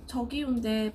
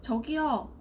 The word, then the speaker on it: 저기요: 저기요인데 발음할 때는 살짝 저기요, 저기요 같은 거거든요.